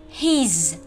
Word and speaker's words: his: her của cô ấy, his của chú ấy, của ông ấy hoặc của anh ấy. His, các em đọc nhìn có đọc được không? His có âm z ở cuối các em nhé.